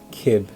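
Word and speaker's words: Cib: So, okay, Sib, pronunciation Kib.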